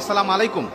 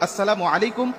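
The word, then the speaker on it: السلام عليكم: আবার অনেকে বলি সালাম আলাইকুম মানে আল্লাহর গজব তোমার উপরে পতিত হোক। বিভিন্ন রকম অর্থ বিকৃতি করে আজকে আমরা সালাম মানুষকে দিচ্ছি, দেওয়ার কারণে আজকে আমরা সালাম কাঙ্ক্ষিত ফলাফলগুলো পাচ্ছি না। এজন্য কখনো আমরা এইভাবে সালাম দেব না, সালামের উচ্চারণটা আমরা সঠিকভাবে দেবো। আসসালামু আলাইকুম ওয়া রাহমাতুল্লাহ বলে আমরা সবাইকে সালাম দেওয়ার চেষ্টা করব।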